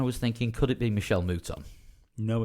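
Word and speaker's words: Michèle Mouton: my honor by Michael moton monton no idea Michelle muton Michelle muton yeah and uh wrong name wrong sex but you got there in the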